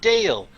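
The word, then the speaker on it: Dahl: Another guy's last name is Dale, and then you go, it's spelled Dale.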